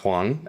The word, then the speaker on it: Huang: Yeah, he's Korean and his last name is pronounced Hang and Nice. Yeah, just occasionally it'll come up that everyone calls him Wang.